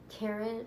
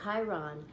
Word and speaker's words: Chiron: only line I read it said Karen I said Chiron pronounced kar e be nostalgic Chiron